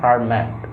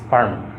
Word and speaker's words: Fermat: So far I know, here T is silent, it's not Fermat, it's Fermat.